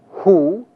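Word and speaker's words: הוּא: The masculine singular form that translates that is pronounced hu, and the feminine singular form that is pronounced he.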